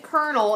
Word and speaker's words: colonel: he was a lieutenant colonel it's said Colonel it's spelled Colonel I don't really know why it sounds said Colonel but that's what it is he was lieutenant